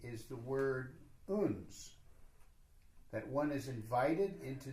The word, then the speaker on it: uns: Somehow, what the Sufis say is the word uns, that one is invited into the intimacy of the king.